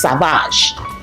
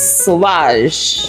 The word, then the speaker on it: Sauvage: So you cannot tell me it's savage. It's Okay. not. It's not telling me that it's Versace. Thank you, It's pronunciation police. Versace is sauvage.